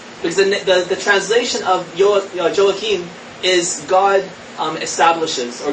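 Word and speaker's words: Joachim: are and um the father is known as joakim and i i did some searches online to see how it's pronounced and i saw that even christians were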